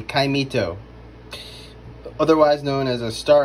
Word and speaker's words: caimito: called a star apple, but it's also called a caimito. And I was pronouncing it incorrectly at first, calling it a cameado. It is a caimito, otherwise known as a star apple.